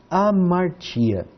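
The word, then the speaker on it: ἁμαρτία: A, mar, ti, a. Nós temos então aqui, por exemplo, uma divisão das vogais.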